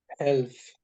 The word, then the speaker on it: health: Most of the words, if we have L before the final letter, the L is silent. It is written, but we don't say it.